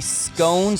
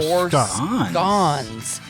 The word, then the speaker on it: scones: I need some help on this, though, because he said it's pronounced as in blowin, like B-L-O-W-N. So I think he's saying you can pronounce it both ways. Blowin or gone. You can do either, so it can be scones or scones. And then he was saying